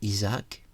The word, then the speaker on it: Isaac: On prononce en français Isaac, en hommage justement à certains personnages de la Bible qui vous accompagnent et